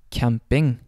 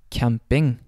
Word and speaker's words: camping: Typically, however, it will either sound like an S or a K sound. So examples would be camping, camping.